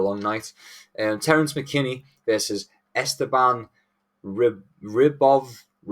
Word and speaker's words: Esteban Ribovics: Terence McKinney versus Esteban Ribovics. That's how you say it. You gotta just add it like from Eastern Europe, and then you get it perfect.